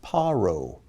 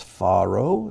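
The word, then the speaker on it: פרעה: But sometimes in the Bible, his name is spelled with that dot there and pronounced Paro. Sometimes it's Pharaoh, sometimes it's Paro, but it always means Pharaoh.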